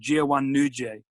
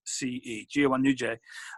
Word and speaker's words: Ciwan Nuce: There are people doing some really good work, and there's an organisation, news organisation called Ciwan Nuce, and I'll spell it out. It's CIWAN space NUCE, Ciwan Nuce, and they are based here, but they're also